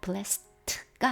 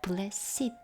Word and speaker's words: blessed: 이렇게 형용사로 쓰이면요. blessed가 아니라 blessed 이렇게 발음합니다.